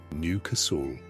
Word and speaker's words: Newcastle: You live in a working-class street in Leeds, or Liverpool, or Newcastle, pronounced Newcasl.